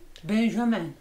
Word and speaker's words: Benjamin: Here we are with Benjamin. Is that how you pronounce your name? Benjamin.